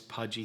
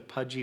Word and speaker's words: Puje: He is the man that is making the Pudgy right now, and we'll show you as well. It's spelled P-U-J-E, if you can see that.